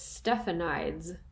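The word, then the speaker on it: Stephanides: this last name and the internet keeps telling me that it's stephanie's i kind of want it to be stefanitis or stefanites because of eugenides jeffrey's last name i don't know it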